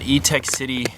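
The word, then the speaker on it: Etekcity: This is an E-Tech City burner off Amazon. It's spelled E-T-E-K and then just city.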